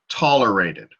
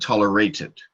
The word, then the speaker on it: tolerated: feel like that's distracting I will say tolerated accent on the first syllable because you had said tolerate it you put it on